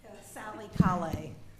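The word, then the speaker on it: Callais: again for the record Sally K A lot of people mispronounce our names but it's c a l l a i s so that's fine um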